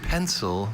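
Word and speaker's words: pensile: Jane, your word is pencil. This pencil is an adjective. This pencil means suspended from above. Hanging pendant pencil. May I have all information? Pencil is the only pronunciation of this adjective.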